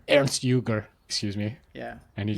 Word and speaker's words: Ernst Jünger: Ernst Jünger? Ernst Jünger. Ernst Jünger, excuse me.